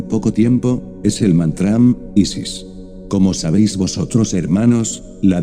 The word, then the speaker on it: Isis: Este mantram se pronuncia así, Isis, Isis. Como veis vosotros, la S debe prolongar con un silbido suave y apacible.